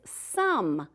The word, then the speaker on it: some: S-O-M-E, some. All right, so this is a tricky one that you might want to practice so that you remember it doesn't make the long O sound because or a long